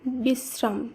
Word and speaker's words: বিশ্রাম: হবে ছাত্র একইভাবে পুত্র বিশ্রাম এই শব্দে তালবস এর সঙ্গে র ফলা রয়েছে তাই তালবস এর উচ্চারণ দুইবার করতে হবে তাই শব্দটি শুদ্ধ উচ্চারণ হবে বিশ্রাম যেখানে দুইবার তালিবস উচ্চারিত